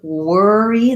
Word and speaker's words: worry: contact for that v the worry that o r says the e r sound so it's just like the word were plus an e sound for syllable stress so